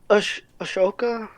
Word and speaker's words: Asuka: I also like Ashoka.